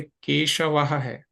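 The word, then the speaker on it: केशवः: एक नियम है तो इसका नियम क्या है उच्चारण का लास्ट यानी जो सबसे अंतिम वर्ण है उसमें जो अंतिम स्वर है उसके अनुसार इसका उच्चारण होगा जैसे केशव है तो व के बाद क्या है आ है तो ह की तरह प्रयोग हुआ केशवाह बालाह बालाह नहीं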